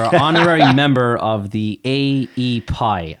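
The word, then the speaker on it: AEPi: honorary member of the a e pie i don't know if i'm pronouncing that you got it a pie yeah it's for for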